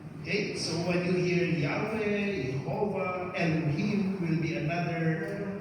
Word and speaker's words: Yahweh: Okay, so from Yahweh, I am who I am, represented by these symbols, YHWH as a transliteration. We pronounce that as Yahweh, Yahweh Adonai.